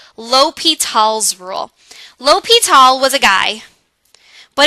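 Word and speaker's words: L'Hôpital: are gonna learn about something called l'hopital's rule l'hopital was a guy but it's also the French word for hospital which will come up later it's not pronounced la hope it'll it's pronounced as l'hopital and this is a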